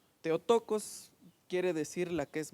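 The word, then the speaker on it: Θεοτόκος: y la virgen concebirá es una frasecita en griega que se pronuncia teotocos teotocos teotocos quiere decir la que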